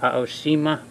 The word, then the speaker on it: Aoshima: the polish EEMA now I think it is pronounced Oshima but you know what